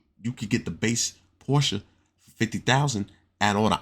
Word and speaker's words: Porsche: It's Porsche, not Porsche.